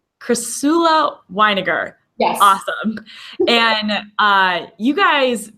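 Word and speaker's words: Chrysula Winegar: I'm going to pronounce her name wrong, but Krishla. I'll pronounce it for you. It's Crisula Weiniger. Crisula Weiniger.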